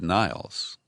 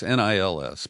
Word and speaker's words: Nils: But what they show is that Nils Melzer, I hope I'm pronouncing it, I've heard it said Niles, so it's Nils, but however he pronounces